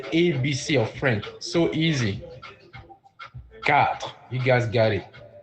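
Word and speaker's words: quatre: of French so easy cat you guys got it cat is how we say four in French cat I repeat q u a t r e cat five how do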